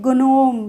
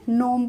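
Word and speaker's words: gnome: हम क्या इसको पढ़ेंगे गनोम गनोम तो नहीं पढ़ेंगे नोम पढ़ेंगे क्लियर है फॉरेन फॉरेन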